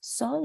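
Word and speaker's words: Séoul: Sol ou Soul? Sol. Sol. Sol.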